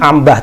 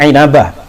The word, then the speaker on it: Inabah: Ibnu inabah inabah inabah bahasanya Bacanya jangan Ambah tapi inabah wafat 828 Hijriah dalam